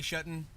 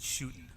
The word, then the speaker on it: Shuton: well you know what my cousin's pronouncing shuttin and I pronounce it shooting shooting so there you go shooting tooting but this is actually it's um the correct way is done right there okay people so la